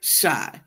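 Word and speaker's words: Shai: Not spelled with a Y. No, but S-H-A-I, but yeah, shy.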